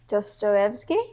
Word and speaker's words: Dostoevsky: And he gave me a book by Fyodor Dostoevsky. Wow, that's the first time we pronounced his name right.